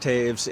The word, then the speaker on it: Toews: friends of rocktaves and even though it's pronounced taves it is t-o-e-w-s that's correct yes uh if you're a hockey fan it's like the hockey player jonathan taves brock thank you very